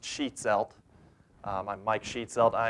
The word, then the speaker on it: Schietzelt: for too many people my last name is sheet salt it's pronounced sheet salt I'm Mike sheet celled I am the criminal